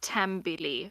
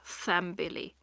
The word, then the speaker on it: thambili: So I would pronounce this as tambili and not thambili, like Okay. Thames. Hmm. Just ignore the H.